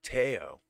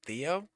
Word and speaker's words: Theo: looked in the asylum tayo tayo not theo teo i didn't eat okay